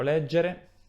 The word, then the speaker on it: leggere: Il verbo leggere è un verbo che ha l'accento tonico sulla E all'infinito, è normale, a volte